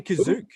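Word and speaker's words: Kashyyyk: Chewie back to his home on kashyyk or as they or as they pronounce it they say kazuk due to suspected Rebel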